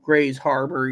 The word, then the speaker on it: Grays Harbor: Washington pretty much you know so you know Grays Harbor you know Etc so you know now there's